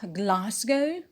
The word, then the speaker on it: Glasgow: it is not stressed glasgow is a british city and the stress is on gla glasgow ah is the main